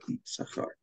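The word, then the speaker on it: יששכר: Ну, я напоминаю вам, что имя Иссахар пишется с двумя буквами син, но произносится, как правило, одна буква Иссахар.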